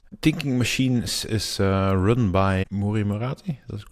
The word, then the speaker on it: Mira Murati: Mira Murati.